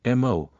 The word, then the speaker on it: Mo: one emo Ching Wu her surname is emo pronounced something like mu or her name Ching